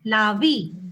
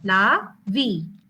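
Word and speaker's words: larvae: When it is many, it is lavi. Okay, even though it is AE, it is pronounced as lavi.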